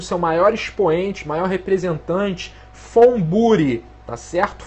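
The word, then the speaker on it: von Buri: maior expoente maior representante furi tá certo fbri é com V mas se pronuncia F furi né O que que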